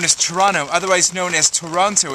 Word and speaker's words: Toronto: Adam Daniel Mazet in a very rainy Fort Lauderdale-on-Ice, otherwise known as Toronto, otherwise known as Toronto. If you're not from here, it's 3 syllables.